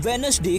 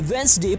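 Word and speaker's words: Wednesday: हम रोज बोलते हैं जैसे कि वेडनेसडे को हम वेडस डे कहते हैं पर उसे वेनसडे प्रोनाउंस करना चाहिए और डाटा को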